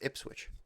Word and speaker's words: Ipswich: It kind of sounds like it, but it doesn't sound like proper English, but No, dude, that's Ipswich.